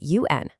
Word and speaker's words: un: Now, I want you to notice that tiny little word right in the middle, un, spelled u n. It has this slightly nasal pronunciation, un.